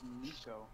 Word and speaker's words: Nico: His name is Nico. Nico. I call him Nick, don't worry about it. Yeah, it's him challenged. It's spelled with Nick. 100%. I think I call him Nick. It's Nico. My Troller Flare deck.